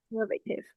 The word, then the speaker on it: conservative: once again conservative conservative okay stress on the second syllable they are quite conservative They will stand by their decision or their principles no matter what.